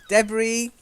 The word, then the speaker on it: debris: yeah debris I'm sorry debris silent s okay detritus another silent